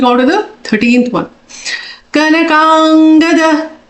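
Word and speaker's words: कनकाङ्गद: Kanakangada. Ka na. Both are small syllables. Kang. A dirgha and matra.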